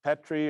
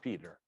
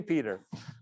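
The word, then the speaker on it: Petre: call it you know petrie or something it took me a while though somebody corrected me and said no that's pronounced peter fred you just you're spelling you're pronouncing it wacky so k peter um she was funny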